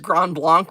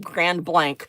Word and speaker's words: Grand Blanc: And it looks like it should be pronounced Grand Blanc, but it's not. It's pronounced Grand Blank, but there's a restaurant in Grand Blank, Michigan called Crossbow.